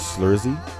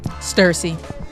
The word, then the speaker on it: Stursi: Um the name is Slurszy. Did I say it right? Stersy. That's a T.